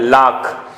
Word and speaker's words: lakh: तो ये संस्कृत शब्द आई गेस लाख से आया हुआ है। लाख, लैख, both are correct, आप लिख सकते हैं। 2 लाख, आगे लिखेंगे रुपीज, 2 lakhs नहीं लिखेंगे, 2 lakh rupees. Britishers pronounce it लैख।